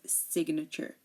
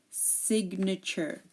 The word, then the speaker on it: signature: example ignore magnificent and signature again if GN is in the middle of a word most of the time we do pronounce the G like ignore you hear